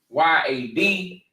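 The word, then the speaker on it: יד: word for or soak it's spelled in English y a d pronounced Yad in the Hebrew Okay Yad all right so I'm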